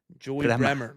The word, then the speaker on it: Bremer: Joey Bremer. It almost rhymes with Joey Kramer.